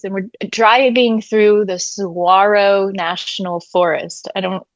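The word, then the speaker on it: Saguaro: So, yeah, we were literally in the middle of the I guess I'm saying it wrong. Sarro, the key is silent.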